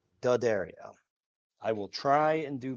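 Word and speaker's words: D'Addario: I'm overemphasizing dario because I continue to get comments on how I pronounce diodario which is not correct and that's fine. And I accept that that's not correct. But my god, people, can you just let me not be correct? It's not a big deal. I get it. I understand. It's actually pronounced Dario.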